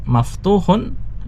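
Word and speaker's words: مَفْتُوحٌ: Sedangkan maftuhun itu tanpa alif lam sehingga dibaca dengan tanwin. Ada tambahan tanwinnya.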